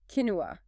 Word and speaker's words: quinoa: Quinoa, pronounced quinoa.